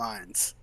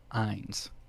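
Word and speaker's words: Ainz: i n z okay pronunciation wise it would be like you're saying Hines without the H yeah okay so I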